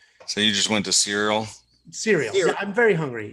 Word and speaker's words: Ciryl: Ciryl. Ciryl. There's a Y and an L. I mean, the C is a S instead of a K. This is ridiculous. So you just went to Ciryl?